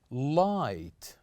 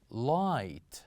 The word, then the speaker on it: light: we have here is light light say after me light so here we kept G and H silent letters the same goes here